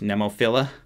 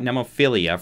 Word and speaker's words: Nemophila: great job here um tell me how it's pronounced nemophila it's not nemophilia for some reason i thought it was nemophilia but it's is it nemophila that's what i believe it is uh give